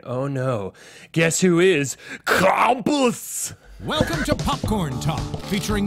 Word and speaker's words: Krampus: It was definitely two syllables, one vowel. Yeah. Krampus.